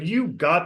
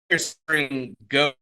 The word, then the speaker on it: gho: off of these L mountains in the background go pronouncing it right gho it's it's these robe like um things that